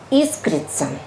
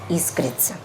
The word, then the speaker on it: искрится: и нас всех если мы ошибаемся поправят и искрится снег конечно искрится следующий слайд срок хранения только истекшие на никак